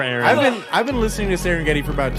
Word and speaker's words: Serengeti: Serengiti. Nope. Serengeti. Serengeti. Spelled like it sounds.